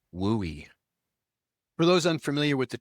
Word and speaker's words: WUI: These best practices are focused on protecting homes and other structures in the wildland urban interface zone which has its own acronym WUI and pronounced WOOI.